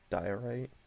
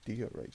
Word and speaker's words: diorite: do you write down i've always been told i say it wrong like uh it's supposed to be diorite i don't know it's always been d right to me i think i actually